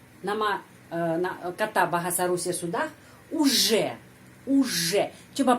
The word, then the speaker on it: уже: Я уже, di sana ada huruf J, bukan Z, bukan UZ, harus я уже знаю это правило.